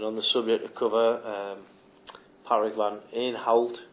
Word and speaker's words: Patrick van Aanholt: And on the subject of cover, Patrick van Aanholt, I think is how you pronounce it.